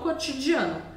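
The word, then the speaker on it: Le Pain Quotidien: o som em Sorriso novamente um detalhe que é bem Sutil é que a letra t em francês ela vai ser feita com pontinha da língua cotidian não é cotidian é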